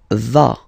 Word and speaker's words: vas: Tu vas, final S doesn't exist. Tu vas, tu vas, okay?